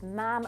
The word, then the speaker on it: ma'am: Remember that after first addressing the Queen as Your Majesty, she should then use ma'am rhyming with ham, not farm.